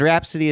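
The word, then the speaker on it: Rapsody: just be like and rhapsody is spelled r-a-p-s-o-d-y like rap city not like r-h-a um but um oh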